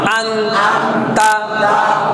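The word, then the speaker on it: أَنْتَ: এক্ষেত্রে অনেকে প্রশ্ন করছেন যে আমরা কখন নর উচ্চারণ ন বলবো আর কখন আমরা অনুস্বার বলবো, যে আংতা নাকি আন্তা। কেমন? এটা আমরা ধরাই দিব। বাকি বেশিরভাগ ক্ষেত্রে ন হবে।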